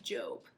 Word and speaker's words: Job: In our Bible story today, it's about a man named Job. Job is spelled like Job, J-O-B, and his story is so important that he has his own book in the Bible, complete with 42 chapters.